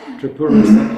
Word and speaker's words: Tripurasundari: Well, you just said it wrong. You keep saying try. Thank you. Okay. Tripura. Tripura. Exactly.